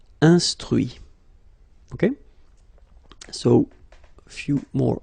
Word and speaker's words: instruit: Instruire, instruit. Okay, so you can notice that even if I put this final T, so as usual, I don't pronounce it. Okay, conduit, construit, cuit, détruit, instruit.